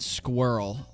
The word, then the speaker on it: squirrel: fair uh most people I know pronounce it squirrel like girl oh we're talking about squirrel where justes only have one syllable here in the US like squirrel I know some people